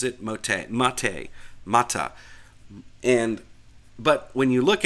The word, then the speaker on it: MATE: head developer for the Auntu Mate project, he pronounces it mot. And but when you look at it, there's no accent over the E. There's no accent over the A. It looks like mate.